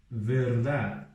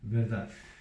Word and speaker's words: verdad: Outra palavra, verdad. La verdad. Porque termina com dad. Então, como que eu pronuncio esse dad? Não é dade, nem dade. É dad.